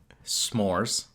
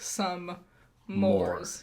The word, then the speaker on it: s'mores: It's s'mores. Uh-huh. That's the way it's spelled. But it's a slang term of s'mores. Some mores. Yeah. I would like some more, please. Yeah. And it's okay to say both, I would say.